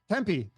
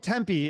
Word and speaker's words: Tempe: in uh is it Tempe or Tempe Tempe Tempe they're that's a local is call it Tempe if if you're not you might say temp Tempe my bad if anyone